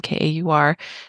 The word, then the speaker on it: Kaur: And Valerie Kaur, I believe is that how you pronounce her last name, Kaur.